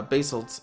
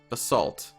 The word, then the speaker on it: basalt: The Atlantanss of the deeps use weapons of enchanted uh basil made of by the basalt kings. Is it basalt or basil? Basaltt. I should probably pronounce it as basalt.